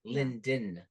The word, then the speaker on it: Linden: sound it out L like he just cut out the D part like L like Lyon like lynville no it's Linden Linden say it again